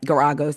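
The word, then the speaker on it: Geragos: The judge told um Guragos, that's how you say it, Gagos in a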